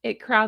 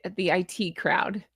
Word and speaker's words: The IT Crowd: In fact, leave me your favorite quote from the IT crowd. See, now I'm pronouncing them both wrong. It's It Cosmetics and IT crowd.